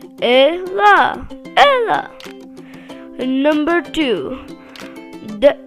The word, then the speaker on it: Ela: Number one, Ellie versus Ella. Ellie. It's not L E. It's short. Lie. Ella. Open your mouth. Ella.